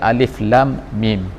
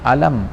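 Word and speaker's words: الم: menunjukkan bahwa ada alif.lam.mim Jadi dibacanya ilah mukhoto'ah alif lam dan juga Meme tapi tidak di dengan alam sebagaimana di tempat lain Allah tanda membacakan alam taro Kaifa alamnasroh dan sebagainya tetapi disini dikatakan alif.lam.mim jadi itu nah menunjukkan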